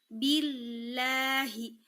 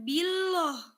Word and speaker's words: billahi: atau cara bacanya jadi tipis, tarkik, billah, billahi, bukan billoh.